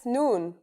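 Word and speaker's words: نون: That's noon. The noon is pronounced just like the English N.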